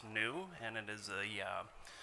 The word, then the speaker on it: NEU: off it is pronounced new and it is a uh word play on carbon neutrality so it's not an acronym but it is one